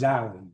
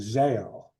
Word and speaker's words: Zale: So the horrid Zowie is just it's pronounced Zowie, by the way. For years I was saying Zale until somebody corrected me.